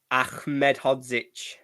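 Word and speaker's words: Ahmedhodžić: uh Wes in goal uh how do you pronounce annel's surname Ollie Ahmed hodzich it's close uh Egan with his 50p head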